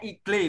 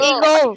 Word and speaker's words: eagle: Jangan ada yang bacanya igle misalnya. Tidak igle. Eagle.